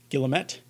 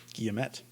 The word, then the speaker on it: guillemet: me on it but you can pronounce this word three ways gilamet guillerme or as i do guillemet